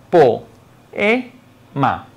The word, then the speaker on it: poema: Por lo tanto, la pronunciación es la siguiente: po-e-ma.